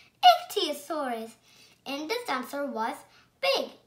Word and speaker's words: Ichthyosaurus: I'm going to tell you how to pronounce it. Ichthyosaurus. Ichthyosaurus.